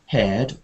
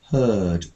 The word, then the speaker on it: heard: When you say heard, can you try not to say it like a chair? Not heard, but heard. It sounds like a bird.